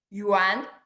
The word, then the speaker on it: Yuan: 不对, wait, when you see the wu, it's not wu in my name. This wu is yu. Okay, so Yuan, Yuan, Yun, Yuan.